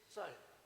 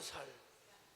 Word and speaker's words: 쌀: 사람들이 못하는 발음이 뭐예요 경상도 사람들 쌀 발음을 잘 못하죠 그죠 쌀 쌀 살이라고 하죠 살 아 여기는 그래도 뭐